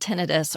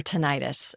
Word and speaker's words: tinnitus: It's called tenidis or tonitis and I've heard it heard it um pronounced both ways but so I have